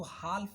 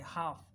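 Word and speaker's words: half: ऐसे ही इसको हाल्फ नहीं पढ़ते, हाफ, इसमें एल साइलेंट है।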